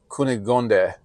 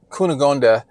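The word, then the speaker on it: Cunégonde: I've really worked on trying to pronounce her name right, but I think it's Cunegonde.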